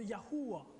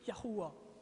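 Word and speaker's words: יהוה: Et donc le nom de Dieu, le début du nom de Dieu se prononce Yahou. Et très certainement la fin, ce serait Wa comme le début, donc Yahuwah. Très certainement Yahuwah, Yahweh, Yahweh. Quelque chose comme ça.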